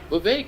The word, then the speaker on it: Vivek: Vivek, it rhymes with cake and snake and, you know, all these other things.